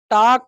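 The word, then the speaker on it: talk: क्या हो जाता है टाक का मतलब क्या हो जाता है यहां पर एल साइलेंट होता है बच्चा लेकिन इससे हमसे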